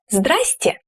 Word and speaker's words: здравствуйте: For example, здравствуйте may sound as здрасте.